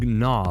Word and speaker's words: gnaw: And the G in gnaw, like they gnawed on a piece of bone. So they actually used to pronounce that letter.